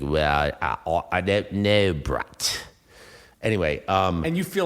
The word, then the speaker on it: Brett: only person who ever pronounced my name with five t's at the end breaths no brett ah well brett like it was cutting